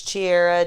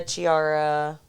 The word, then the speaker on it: Chiara: messes it up why because it's spelled c-h-i-oh yeah oh I would have guessed k for sure yeah but it's Italian so she gets Chiara Chiara Chichi oh yeah all